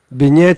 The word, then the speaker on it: B-gnet: Tu prononces toutes les lettres, tu fais B, puis Niet. Beignet, voilà, c'est pas facile, je trouve.